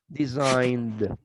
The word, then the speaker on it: designed: designed designing it when when you pronounce design you pronounce like a final d design design this time don't design it no designed observe the only cases